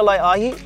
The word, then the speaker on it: Laeʻahi: So when I named things for OluKai, when I named this shoe called the lye-ah-hee, when I named it a lye-ah-hee, the easier grab was to be lye-ah-hee.